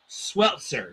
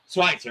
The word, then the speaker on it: Schweitzer: But I realized that is Jamie Sweltzer. So I'm very sorry that Schweitzer. I'm very sorry about that. It's just the way that it's there. It is Jamie Schweitzer.